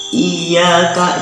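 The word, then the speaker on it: إِيَّاكَ: Iyyaka, jangan menghilangkan tasdid. Jangan dibaca iyyaka aja, tetapi iyyaka harus ada tasdid Fatihah.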